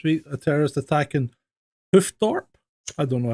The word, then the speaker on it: Hoofddorp: A terrorist attack in Hoofddorp. I don't know how to pronounce that. Did I say that wrong? Hoofddorp.